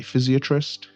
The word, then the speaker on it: physiatrist: I saying this correctly, Physiatrist? Well, that is one version of the pronunciation, and you did it beautifully. The other one is physiatrist. Physiatrist sounds a little more American.